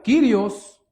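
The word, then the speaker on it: κύριος: Esta proviene del griego, hermanos, que se pronuncia Kirios.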